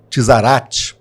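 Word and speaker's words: צרעת: Há uma palavrinha no hebraico que é o tizarat, né? Essa é a pronúncia, e essa palavra ela estava relacionada à lepra, né?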